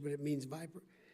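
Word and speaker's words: VIPR: pronunciation but it means viper it means v-i-p-r but it sounds like the snake in august dhs oig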